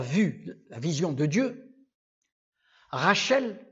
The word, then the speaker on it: Rachel: Rachel, Rash, au lieu de dire Ras, ils disent Rash. Le S, ils le prononcent en Che.